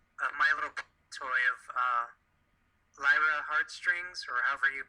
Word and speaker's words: Lyra: little toy of uh Lyra Heartstrings or however you pronounce name yeah because you and I are so we know how to pronounce Lyra like Li some people put l I'm either way really yeah